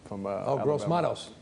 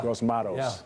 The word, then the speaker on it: Gross-Matos: I'm not even sure his name or how to pronounce it. But I think the guy from Gross-Matos. Yeah. Gross-Matos. Yeah. Gross-Matos.